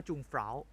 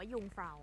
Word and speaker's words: Jungfrau: จะ จะ เรียก ว่า จูง เฟ้า อ่า คน ไทย จะ เรียก กัน ว่า จูง เฟ้า แล้ว เรา ก็ เพิ่ง รู้ กัน ว่า อ เค ออก เสียง ว่า ยุฟ้า อ่ะ พอ ข้าม มา